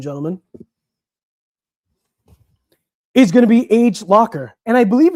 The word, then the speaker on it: Agelocer: So the next brand that we're going to be looking at, ladies and gentlemen, is going to be Agelocer. And I believe it's called Agelocer. Not some people pronounce it Agelocer.